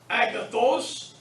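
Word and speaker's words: ἀγαθός: E, agathos. So here's how you pronounce it. Agathos, agathi, agathon. Agathos, agathi, agathon.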